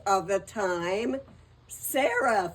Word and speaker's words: Sarah: Sarah, for instance, they pronounced Siri.